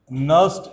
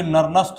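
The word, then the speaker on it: Nernst: चलो, अगला टॉपिक है नर्स्ट इक्वेशन। अगला टॉपिक है नर्स्ट इक्वेशन, है ना, इसको कोई नर्नस्ट नहीं पढ़ेगा, ठीक है, नर्स्ट इक्वेशन है, ओके, एन साइलेंट रहता, नर्स्ट इक्वेशन।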